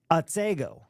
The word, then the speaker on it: Otsego: Otsego.